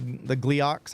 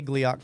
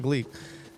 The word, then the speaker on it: Gleeok: you're hunting like the Gleeoks. How do you say Gleeok properly? Like Gleek? I won't say Gleek. No, it's not Gleek.